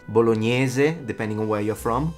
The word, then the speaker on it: bolognese: And the sauce, bolognese. Not bolognese. Bolognese, depending on where you're from, both fine, but not bolognese.